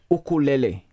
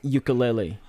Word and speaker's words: ukulele: If you appreciate that, it's pronounced ukulele, not ukulele.